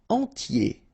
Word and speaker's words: entier: Entier. So remember, I-E-R, yé, okay, and then the T, tier, and the nasal before, entier.